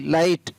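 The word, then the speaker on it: light: आर आई जी एस टी राइट, एल आई जी एस टी लाइट, एस आई जी एस T site. तो ये सारी meaning है, आपको spelling है वो साथ में याद हो गई।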